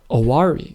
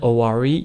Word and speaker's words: Oware: there or actually actually I think it's called aari with an A but um I've seen it most often spelled with an O oari So in aari you have four seeds